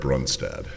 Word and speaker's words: Brunstad: It's Norwegian, Your Honor. Brunstad. Ah, Brunstad. It's an old Viking name, Your Honor.